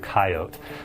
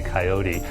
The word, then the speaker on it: coyote: aspects to Colorado's accent one example is is the word coyote that's a Colorado Wyoming kind of pronunciation and if you come from the east you're much more likely to say coyote in the name of